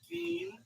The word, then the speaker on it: Gein: It's actually pronounced Ed Gein, I thought, and it's a serial killer documentary.